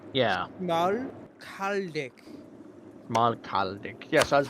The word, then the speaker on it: Schmalkaldic: It's the SCH Schmalkalden. It's just Schmal, right? Schmal. Like small, right? Yeah, But like put Schmal. Yeah. Schmalkaldic.